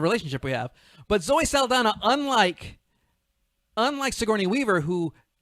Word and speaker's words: Saldana: ah i went with zoe salinder i i'm saldana saldana thank you i butchered your last